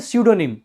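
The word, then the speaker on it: pseudonym: इसको बोलते हैं स्यूडोनिम। इसमें पी आपका साइलेंट रहता है, इसको बोलते हैं स्यूडोनिम।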